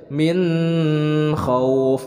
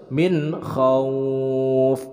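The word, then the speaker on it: مِنْ خَوْفٍ: Ini hukum bacaannya adalah izhar, dibacanya jelas. Jadi tidak disertai gunnah, tidak bacanya min khauf. Nah, itu salah. Sebab ini adalah izhar, jadi dibacanya harus min khauf.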